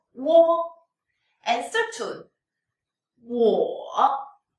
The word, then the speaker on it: 我: In daily conversation, we can shorten the sound and only pronounce the lowest point of the third tone.